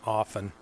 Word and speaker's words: often: I love you, Mel, because you don't pronounce the T in often.